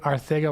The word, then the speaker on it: Arcega: That's the proper way to pronounce it. Arcega Whiteside. Calling a hold on the D. So like you have to like lisp Arcega, but you have to say Whiteside correctly, because like that's got